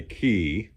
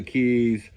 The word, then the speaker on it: Cay: Well, I think they actually want you to say key, but anyhow, I know that Florida it's the Keys. Uh, this is spelled C A Y, but I think they want you to pronounce it key instead of K.